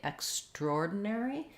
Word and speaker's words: extraordinary: but that's less common more typical would be to say extraordinary where we get rid of this uh we have secondary stress here on the x so it would be